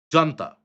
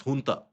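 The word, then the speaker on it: junta: Now the last time basically you had the Myanmar military ha what is known as or what is spelled as jantaa but not pronounced as jantaa pronounced as honta.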